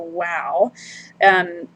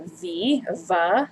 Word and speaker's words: vav: ago or a long time ago as a wow. So in classical Hebrew pronunciation, it would have been the W sound, the W sound. But in modern Hebrew today, it sounds more like a V, a V.